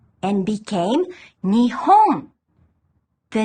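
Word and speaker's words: 日本: In this specific combination, the kanji for the sun has the pronunciation ni. Nihon. Nihon.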